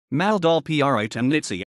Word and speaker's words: Male Dole pri Temenici: male gold pri to menacity pronounced maldolph pri temnitsy german kleindul is a small